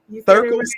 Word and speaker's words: Thirkles: Thirkles? Okay. Yes. Okay. Yeah, it's one of those things. Is it Threekles or Thirkles? It's the I before the R.